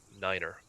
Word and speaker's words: nine: 9 will be said like niner.